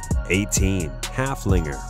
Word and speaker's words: Haflinger: riding a big horse Haflinger with a name that rhymes with Gunslinger halfling reserved just as